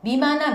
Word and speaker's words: 任那: 미마나 미야케라고 읽어요. 여기에 임나 일본부를 미마나 미야케라고 하고요. 여기 임나 어태, 임나 둔창, 임나 관가를 다 미마나 미야케라고 읽습니다.